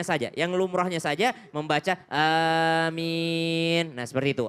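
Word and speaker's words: آمين: A-nya 2 harokat, min boleh juga 2 harokat. Boleh juga panjang min. Kenapa? Karena dianggap mat arid lis sukun. Sama seperti alhamdulillahi rabbil alamina. Normalnya karena 2 harokat alamina. Tapi karena dia di akhir menjadi alamin. Panjang dia. Sama dengan aminah. Harusnya, tapi karena di akhir dia menjadi amin.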